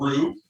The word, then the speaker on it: roux: So the way we start out is with a big fancy French term called roux. It's spelled R-O-U-X.